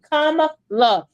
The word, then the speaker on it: Kamala: And we keep saying it's comma, like the comma in a sentence, la. Comma, la.